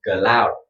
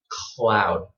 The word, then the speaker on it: cloud: This is a Vietnamese accent, loud. What you want is to put your tongue, before you say, put your tongue up. Okay, just like this. Cloud.